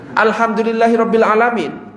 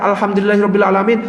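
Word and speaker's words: الحمد لله رب العالمين: ya karena bacanya salah harusnya cara baca Alhamdulillahi rabbil alamin Alhamdulillahi rabbil alamin harus dipisah enggak boleh disambung kalau disambung alhamdulillahiabbil alamin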